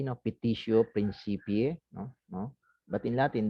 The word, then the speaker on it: petitio principii: This is pronounced in Latin as petitio principii. No? Don't pronounce this as you pronounce the Spanish way. No? Petitio principii.